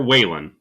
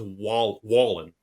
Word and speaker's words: Wallen: Now, is it is it Wallen or Whan? I thought it was Whan. According to his Twitter account, it's pronounced Wall Wallen.